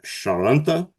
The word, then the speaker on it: Charente: As a British expat living in the Charente, is that how you would say that? Yep, the Charente Maritime. Yep. Okay, Charente Maritime.